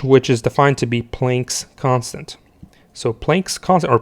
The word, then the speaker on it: Planck: is defined to be Planck's constant. So Planck's constant, or Planck's constant, I believe it's pronounced as Planck, is equal to 6.626 times 10 to the minus 34.